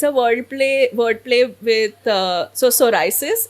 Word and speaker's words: psoriasis: It's a wordplay with so psoriasis. It's Okay. a community for people with psoriasis to help them, you know. So that P is silent basically.